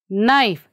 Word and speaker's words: knife: are pronouncing this one knife here k we are not saying isn't it and what about this